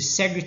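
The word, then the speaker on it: Segrè: nuclei and what you see here is the sega chart so it's spelled as uh s-e-g-r-e so your sega chart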